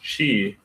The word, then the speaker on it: qi: It's really a gamecher and it's actually pronounced chi.